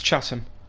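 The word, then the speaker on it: Chatham: to London 10 panras I might have said chattam it's chattam I always make those mistakes stations in the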